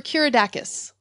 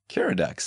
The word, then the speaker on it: Keeradaks: Now, is it Keeradaks or Keeradakis? Keeradaks. That's the way it's spelled.